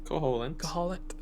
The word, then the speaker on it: Koholint: Koholint. Like lint. Yeah. Like, we did some laundry, I got lint.